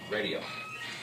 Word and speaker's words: RxDIO: And Radio is spelled RxDIO. Radio.